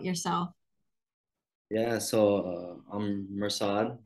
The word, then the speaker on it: Mirsad: think you said correctly the English version is perfect I usually introduce myself as mursad remember my family doctors